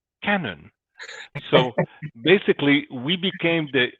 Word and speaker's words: Kanon: the oh slash mean so it was cannon that's how the swedes would have pronounced the name and it meant translated